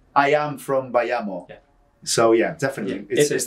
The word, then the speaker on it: Bayamo: variation um so the way it's is said sounds like let's go by amos without the s it's like saying by amos let's go with a cuban accent but the way it's